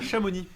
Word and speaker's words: Chamonix: Chamoni qui s'écrit Shamonix mais le X ne se dit pas.